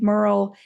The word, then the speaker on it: Merle: Well, I'll be sure to drop links in the show notes of how you can find Merle. And her name rhymes with girl, and she's great about